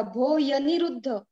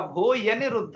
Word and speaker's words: भो यनिरुद्ध: वो दूसरा रूप उच्चारण कैसे होगा? भो यनिरुद्ध। यस यस यही होगा, भो यनिरुद्ध, बिल्कुल सही।